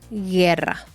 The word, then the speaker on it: guerra: i o una e solamente tiene que poner una u en medio que no se pronuncia Y entonces por ejemplo es gu o gui no es gu ni gui es gu y Exacto por ejemplo como la palabra guerra sí es una G